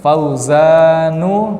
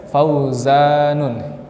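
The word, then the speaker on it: فوزان: Fauzanu, tidak boleh Fauzanun, karena akhirnya apa?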